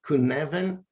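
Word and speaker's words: Cynefin: this framework which is so hard to pronounce because it's a Welsh name but I guess it's pronounced something like kuneven and the argument here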